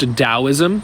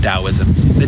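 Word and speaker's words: Taoism: different tosm is pronounced dosm and dosm is the same as taism it's the same thing it's just pronounced dosm the t is a d I think people think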